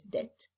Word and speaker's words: debt: i remember know that b is not pronounced so it's debt the provisions of bad